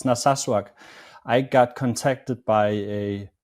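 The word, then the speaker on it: Narsaq: from a town called is it Nasak in southern Greenland? Naswak. Yeah. Yeah. It's a it's a difficult name to to pronounce, but yeah, it's Naswak.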